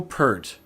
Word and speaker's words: Peart: Pronounce it Pert. Neil Peart was one of the greatest drummers that ever lived.